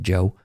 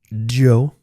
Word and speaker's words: Djo: It's pronounced Joe. The D is silent. The D is silent. Joe.